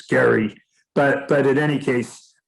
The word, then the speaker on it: Gerry: one of them is jerry of the gerrymander i think he's called i think his real pronunciation is gary but but in any